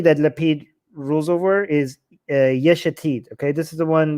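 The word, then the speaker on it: Yesh Atid: lapid rules over is yeshetid okay this is the one that i have the biggest problem with because his name rhymes with the name of his party and that's why it's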